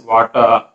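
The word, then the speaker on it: Watir: So water is also can be pronounced as water, which is also a completely open source automation tool.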